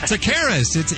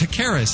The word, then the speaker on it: Takaris: Takaris. It's a hard one to pronounce. Takaris. Is that right? Yeah, you basically leave the T off and you're halfway there.